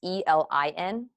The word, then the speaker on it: Elin: So an author I read a lot is, I want to say her name is Ellen, but it's not. It's Elin, Ellen Heldberg.